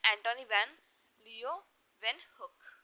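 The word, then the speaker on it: Antonie van Leeuwenhoek: so that scientist name is एंटोनी वैन लियो वन hook okay scientist का नाम था एंटोनी when you then hook ठीक है मैं आपको एक बार प्रोनाउंस करके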